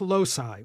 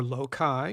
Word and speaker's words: loci: They're often referred to as loci, or loci, if you like the hard C version.